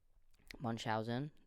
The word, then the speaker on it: Munchausen: Why did I say it like that? Munchausen. There we go.